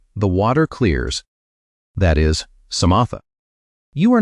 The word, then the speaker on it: samatha: The first practice the Buddha taught is called samatha. Say it like samatha.